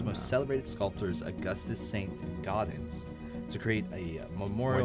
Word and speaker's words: Gaudens: Gaudens, to create a memorial. Why'd you say gardens like you're from New Jersey? Gaudens. Well, it is spelled G-A-U-D-E-N. Oh, okay, so, Gaudens. Yeah, so it's not gardens.